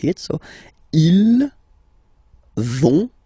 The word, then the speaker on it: vont: pronounce it, so ils vont, final T not pronounced, ils vont, and then feminine form, elles vont.